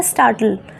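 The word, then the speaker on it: startle: अच्छा next word क्या है, स्टार्टल, स्टार्टल इसका मीनिंग क्या होता है, इसमें जो टी है वो साइलेंट रहेगा, स्टार्टल, ठीक है।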